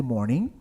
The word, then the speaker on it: morning: Cuidado com a palavra morning, tá? Na língua inglesa, palavras com a terminação ing, a gente nunca vai pronunciar o G, tá? Pronuncia só até o então. Morning, não é morning.